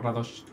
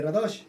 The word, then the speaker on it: Radosh: Y 2, me acabo de enterar que se pronuncia Radosh y no Radosh. Siempre sí, todo el mundo dice Radosh. Sí. Pero es un acento invisible en la...